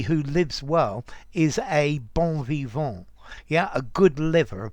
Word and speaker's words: bon vivant: yeah but well um the problem is in french these final syllables these final consonants disappear so above evolve this